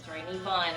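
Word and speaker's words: Neamhain: There's Nivain, Nivan, it's spelled Nivain. Nivan, who is her battle fury.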